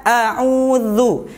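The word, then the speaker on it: أعوذ: Ya, bacanya a'udzu. Mana makhrajnya huruf dza? Huruf dzal. Huruf dzal itu makhrajnya ialah ujung lidah bertemu dengan ujung gigi seri atas. Jadi otomatis lidahnya sedikit keluar. Dza, zi, zu, a'udzu.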